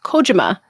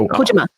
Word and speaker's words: Kojima: I found out on the topic of it's pronounced Kojima, and I didn't know that until I went to Tokyo Game Show, and their PR yelled at me. They're like, Kojima, and I was like, Kojima, and they're like, Kojima, and I'm like, Kojima.